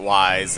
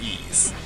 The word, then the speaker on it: Ys: I always called it wise and hopefully I'm not the first person to make that mistake but it's pronounced ease as in like it's easy to do something or to put you at ease just to clear that